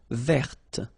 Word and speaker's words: verte: Feminine form, verte. So listen carefully. I don't say te, but it's t. Verte. Verte. Okay, so as usual, this final E only gives you the possibility to pronounce this t.